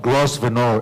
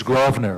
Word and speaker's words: Grosvenor: street next to it it's not grosvenor it's grosvenor right maureen raffi is referring